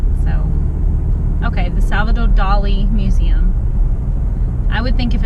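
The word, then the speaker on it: Dalí: Well, first of all, I didn't say Dolly. I said Dali. D-A-L-I, not D-O-O-L-Y. I know, people have accents. I do have an accent, so. Okay, the Salvador Dali Museum.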